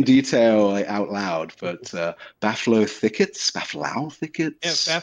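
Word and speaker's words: Bhaflau: never discussed in detail out loud but uh baffo thickets bafow thickets yeah bafow I think is is is the yeah you were close close enough accepted accepted pronunciation uh so the music that plays in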